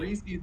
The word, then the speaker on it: Reese's: Reese's because it rhymes with PC. It does rhyme with PCs.